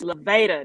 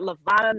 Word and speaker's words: Levada: life of correcting people it's levada not levata not levita it's i think